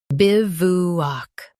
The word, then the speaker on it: bivouac: Biv, oo, ak, bivouac. Stress biv and keep oo short. W is silent. Biv, oo, ak, bivouac.